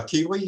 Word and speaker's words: Keeley: future so uh kiwi is that how you pronounce your name oh come on so looks like you're muted yeah sorry yeah there you go um yeah yeah that's how you pronounce my name yeah my name is